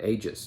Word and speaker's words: aegis: Or aegis, I guess. The protection, backing, or support of a particular person or organization. Okay, so it's pronounced aegis, apparently.